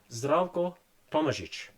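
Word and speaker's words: Tomažič: It's T O M A Z I C. The zed has a little hat on it as does the C. So that's the correct pronunciation. Gordon Zcoichic.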